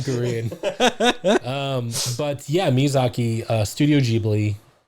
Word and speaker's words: Ghibli: But yeah, Miyazaki, Studio Ghibli. Ghibli? Ghibli. Okay. Ghibli. That's how the Japan works. The Japan words, that's how they say it.